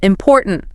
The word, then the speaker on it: important: Again, second syllable. Important. That's where the energy goes.